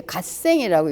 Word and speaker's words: 갓생: 사실 우리들은 어느 날 그 무슨 말인지 줄여서 하는 말인지 막 어렵지만 이 갓생이라는 것이 God 플러스 생이라는 뜻을 얘네들이 이렇게 갓생이라고 읽는답니다.